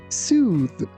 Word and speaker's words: soothe: Here be careful that th in this word doesn't sound like th. It sounds somewhere between z and d. That's why we say soothe. Soothe.